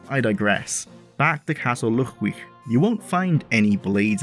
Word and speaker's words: Llugwych: of real-world Celtic origin, especially Welsh, with its use of the double L, making a ch noise.